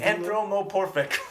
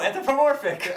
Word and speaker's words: anthropomorphic: costume K cthulu cthulu anthromorphic anthromorphic no anthropomorphic I didn't say it right I I had it